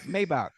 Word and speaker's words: Maybach: The way the Germans, the engineers, and the way the Mercedes, yeah, they pronounce it Maybach. We ain't in Germany. We in the USA. Maybach.